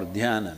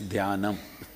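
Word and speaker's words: dhyanam: imagining meditation means dan it's dam in Sanskrit dana in southern Indian languages you ate up the last two syllables and made dan all right but you think you're correct it's all right in Sanskrit it's danam danam if you do what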